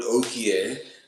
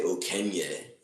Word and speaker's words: Okie: Again, the word Okie, maybe people pronounce it a little differently than me, but I hope you know what I mean. I know some people say Okenye, but this is not what I say.